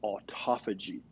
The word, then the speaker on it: autophagy: community is reading about and learning about is autophagy. And this is a combination of 2 Greek words. That's how you pronounce it.